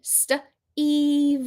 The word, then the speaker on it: Steve: No, because we learned in our lesson today that that E is silent. It doesn't make any noise on this word.